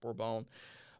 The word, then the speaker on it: Bourbon: It's spelled Bourbon, but it's pronounced Bourbon, because some of the French traders had taken it and planted it in